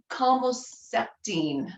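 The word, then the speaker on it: Calmoseptine: you can help me it's comoceptine i think is how it's pronounced that was one of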